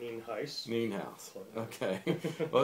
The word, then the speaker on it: Nienhuis: I did pronounce that right, didn't I? Nienhuis. Nienhuis.